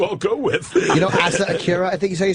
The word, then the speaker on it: Asa Akira: You know Asa Akira, I think you say her name? Yeah, Asa Akira. Yeah, Asa Akira.